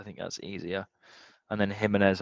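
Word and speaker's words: Jiménez: that's easier and then himz our right back himz because it's pronounced the same oh God this team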